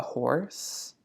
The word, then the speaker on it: horse: too he has a horse right not silent a horse and some cattle good very